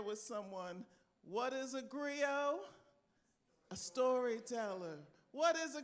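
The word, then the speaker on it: griot: in West Africa a Grio now you're GNA see that word spelled in different ways but the way it's usually spelled is g r i o t and you don't pronounce the T so agrio is a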